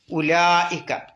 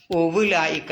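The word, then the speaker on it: أُولَٰئِكَ: മുകളിൽ മുദബ്ബറായ സുക്കൂന് കണ്ടില്ലേ ഉലായിക്ക അതിനും എന്തില്ല ഉവ്വുലായിക്ക എന്ന് വായിക്കാൻ പോകണ്ട എന്ത് ചെയ്താൽ മതി ഉ കഴിഞ്ഞിട്ട് ഒറ്റ ചാട്ടം ലാമിലേക്ക് ഉലാ പിന്നെ അവിടെ എത്ര നീട്ടണം ഉലായിക്ക ആറ് കത്രി വരെ നീട്ടണം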